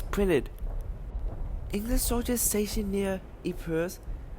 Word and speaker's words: Ypres: English soldiers stationed near Ypres, which they mispronounced as Wipers in Belgium, found an